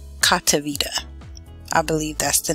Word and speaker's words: Cotiviti: Okay, so the first job that we have available today is a company called Cotiviti. I believe that's the name, that's how you pronounce it.